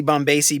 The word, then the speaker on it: Bombacie: all that in the show notes that's bombasi b o b o m b a c IE correct I was I was pronouncing it incorrectly until we actually had a